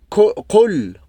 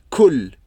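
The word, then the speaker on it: قول: Et les francophones, souvent, au début, ils vont la prononcer et lire Qul, Qul. Parce que K, il se trouve en français, donc ils trouvent facilement à prononcer K. Mais normalement, celle-là, c'est Qa. Q. Qa. C'est comme si tu appuies fort à l'intérieur.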